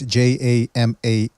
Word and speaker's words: Jermaine: Well, listen, in regards to Jermaine Ortiz, I don't even know how you pronounce his name, by the way. It's Jamaine.